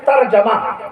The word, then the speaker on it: ترجمہ: सही तलफ़्फ़ुज़ ترجمہ نہیں ہے، ترجمہ نہ کہا کیجیے، صحیح تلفظ کیا ہے؟ ترجمہ، جیم پہ زبر ہے، ترجمہ۔ وضو نہ کہا